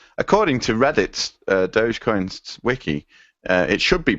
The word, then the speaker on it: Dogecoin: No, well, DOH is dough, J is J, and then coin is coin. So it's still Dogecoin.